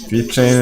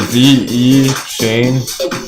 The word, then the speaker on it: VeChain: VChain is real people trying to make it happen, who are making it happen.